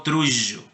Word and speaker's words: trullo: Ese fonema es el fricativo posalveolar sonoro. Suena así como un abejorro. Por eso les digo trullo.